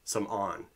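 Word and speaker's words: Samorn: and he's still alive um his name is Sam on in the book It's s a m o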